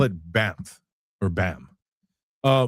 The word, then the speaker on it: BAMF: and I call it BAMF or BAM. Uh BAMF, B A M F. The F is silent because I said so, that's why.